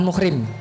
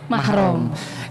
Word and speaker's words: mahram: dalam penyebutan istilah yang yang biasanya dipakai adalah bukan muhrim tapi kalau sesuai syariat itu penyebutannya adalah bukan mahram mungkin karena huruf tanpa harakat kita jadi mahram dibacanya muhrim dan di tradisi halal